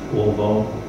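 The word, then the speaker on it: עָוֹן: And if we look at it, the Hebrew word for sin it's pronounced ovon, and its meaning is perversity, depravity, iniquity, guilt or punishment of iniquity.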